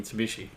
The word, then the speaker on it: Mitsubishi: rhombus or diamond shape as is customary he is pronounced Vichy when it forms a lot of part of a word it's the combination of Mitsu and he she reads me Mitsubishi so complicated we'll just